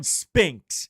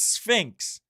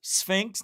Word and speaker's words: Sphinx: And it's not Leon Spinx. It's Sphinx. There would be a new knowledge. Well, I had no idea if this was even, isn't it? Pronounced Sphinx, not Spinx.